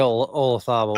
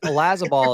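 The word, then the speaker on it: Olazábal: Thomas Bjorn, Jose Marazabal, Francisco Molinari, Jose Maria Olazabal. I know. I said it wrong. I was trying. No, you didn't. I'm mad that Olazabal has been the way the Brits have been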